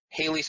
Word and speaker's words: Halley's: anyways but the whole Halley's Comet is now always been Halley's Comet with a short a so it's H al l ey now and also daylight